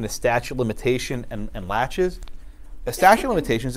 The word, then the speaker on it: laches: six ones called laches it's spelled la CH es so it's not Lachey's its laches laches is similar to